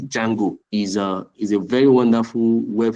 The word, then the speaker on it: Django: Like one of the frameworks I use, the Django, they call it the D is silent. D Django is a very wonderful